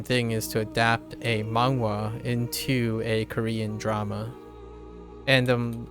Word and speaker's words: manhwa: Korean dramas always with your girlfriend and read manhwa. Nice. Don't know how to say it. Yeah, manhwa. Or oh no, wait, mahwa. Is that something else? Oh, manhwa. Yeah, manhwa. MANHWA. That's how I pronounce it.